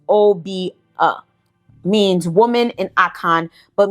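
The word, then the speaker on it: Obeah: In Jamaica, it is pronounced Obia.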